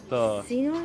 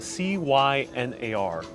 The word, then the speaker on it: Cynar: Cynar Spritz? Yeah, I'm not sure how it's pronounced, but Cynar. Cynar.